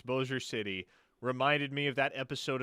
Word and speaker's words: Bossier City: I thought maybe the word like dossier. Like dossier is spelled the same, but with a D. I was like, oh, B, French. I got this.